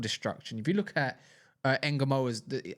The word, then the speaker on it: Ngumoha: If you look at Ngumoha's, I know that's how you say his name. Yeah, I know. Got it right.